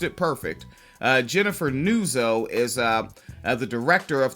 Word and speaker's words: Nuzzo: H if you libertarians continuing an individual by the name of Jennifer Nuzo Nuzzo pronounced it perfect. Uh Jennifer Nuso is uh the director of the pandemic center